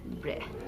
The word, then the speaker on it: bread: n d it is not brilliant it is bread so the next unusual letter combination we have